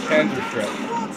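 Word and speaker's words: Panzerschreck: Did I pronounce that right? Panzerstreck. That's how you say it, Panzerstreck.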